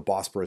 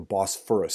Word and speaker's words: Bosphorus: And I'm sorry, I keep calling it the Bosporus Straits. I should pronounce it correctly, the Bosphorus Straits.